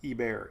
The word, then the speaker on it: Hebert: it's the heber box i don't think there's an h it's e-bear e-bear e-bear box i